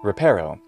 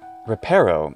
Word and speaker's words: reparo: here hermione says oculus ripero and this word repairo this isn't where the stress goes if this is indeed a normal latin word now you know the